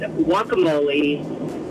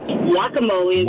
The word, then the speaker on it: guacamole: Mary Ellens with Salsbury mass and I've said wacamole forever so my fiance corrected that what did you call it guacamole instead guacamole wamo it happens I love that